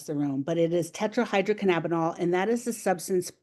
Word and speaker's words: tetrahydrocannabinol: THC, which is tetrahydrocannabinol. And if you were in person and you pronounce that properly, I would send you a little candy across the room. But it is tetrahydrocannabinol, and that is the substance that's primarily responsible